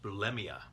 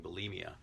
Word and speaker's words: bulimia: and I heard a linguist recently saying it's pronounced bulimia which is interesting because you do hear so many people saying bulimia Valerie says I'm so excited because things that's